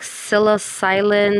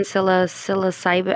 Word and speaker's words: psilocybin: It was something like psilocylin, psilocyphin, psilocybin. I can't pronounce it. That's close enough, I think. Psilocybin. Psilocybin. Okay. Psilocybin. Good job.